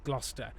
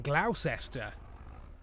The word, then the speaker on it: Gloucester: How was I supposed to know how to pronounce it as Gloucester rather than Gloucester? What happened to the uses?